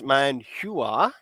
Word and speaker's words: manhua: Um, where with the Chinese, it's Manhua. Manhua, yeah. Yeah. Now, the Korean one sounds very similar, but it's Manhua.